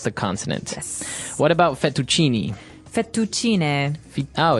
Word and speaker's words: fettuccine: fettuccine Alfredo is a very common American Italian dish, but Right. in Italian it'd be fettuccine, so you might hear it differently.